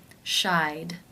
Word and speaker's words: shied: The final sound in the infinitive is the I as in by diphthong. Therefore, it is case 2, and the ED is pronounced as the D sound. Shied, shied.